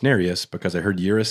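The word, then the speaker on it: Nerius: finger narius now I only remember that it's pronounced narus because I heard yurus say it the other day otherwise I would have said nerious or narus but that's egregious yeah that's narus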